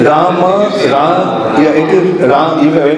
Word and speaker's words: Ram: Rama, Ram, yeah, it is Ram. Even when you say Ram, it is two syllables. It's not one syllable.